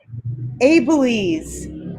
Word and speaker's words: Abeles: Now, you pronounce it the correct way, please. Abeles. Abeles.